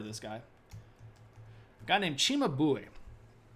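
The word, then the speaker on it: Cimabue: this guy guy named Chima bu Chima bu if I'm saying it in the the old Italian way you got to put the accent on the boo Chima boy who is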